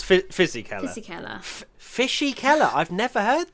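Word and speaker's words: Fisichella: what was his name did you call him fishy keller yeah fizzy color thank you i'm sorry it's fizzy kelly fishy keller i've never heard that i don't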